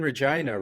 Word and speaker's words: Regina: and uh it's it's it's a funny pronunciation because we uh in Canada retain a lot of the British uh pronunciation for for a lot of the the names and so it's after named after Queen Regina or Regina and back in in